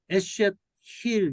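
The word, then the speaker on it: אשת חיל: 이제 이샤에서 에쉐트 힐 이렇게 발음이 되는데 네.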